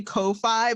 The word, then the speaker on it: Ko-fi: I'm not even sure how the hell that's pronounced. I say coffee, but I have heard people say Ko-fi, but I don't know. Like, I thought it was supposed to be coffee.